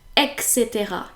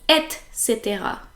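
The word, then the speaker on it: etc.: the same in English most French people actually pronounce it EXC as if the C and the T were reversed so it should be Etc because it is spelled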